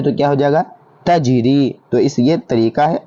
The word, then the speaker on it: تجری: پڑھتے ہیں اس کو تجری۔ کیا لکھا ہوا ہے؟ تجری۔ اس کا ہجے کیسے کریں گے؟ تا جیم زبر تج، را یا زر ری۔ پہلے کیا تھا؟ تج، بعد میں ہوا ری، دونوں کو ملا دیں